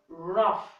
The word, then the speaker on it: rough: each is sometimes I said sometimes not always pronounced like for like for example rough now the G and each year they give